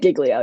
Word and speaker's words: Giglio: by the way yeah it's pronounced like giglio you did fine okay good